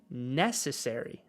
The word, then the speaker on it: necessary: Sin embargo, en inglés, la sílaba tónica es esta sílaba. Necessary, ¿verdad? La NE, la primera sílaba, necessary. Ahí es donde cae la énfasis de la palabra.